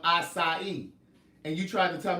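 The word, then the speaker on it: açaí: It's acai. It's not acai or whatever it was you said. It's acai.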